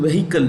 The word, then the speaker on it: vehicle: introduce new route patrolling Vehicles the edge in vehicle is silent so we pronounce it as vehicle okay